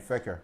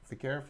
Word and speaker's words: Fekir: Fekir. Yeah. How do you pronounce it? The coach? No, man. Fekir.